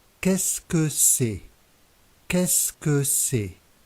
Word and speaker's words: Qu'est-ce que c'est: Qu'est-ce que c'est? Qu'est-ce que c'est? The letters Q, U combined are always pronounced K.